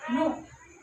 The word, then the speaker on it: know: NO है ना, नो, यहाँ हम क्या कहते हैं, NOW, नाउ कहते हैं ना, लेकिन यहाँ K साइलेंट है ना, लेकिन इसे नो ही कहते हैं, KNOW।